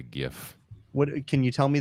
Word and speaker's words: GIF: I don't know the right way to spell it or say it, but yeah, it's actually pronounced GIF, but a lot of people just call it a GIF.